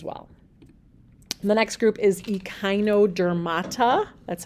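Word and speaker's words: Echinodermata: this group as well the next group is EOD dermata that's how you say that word that name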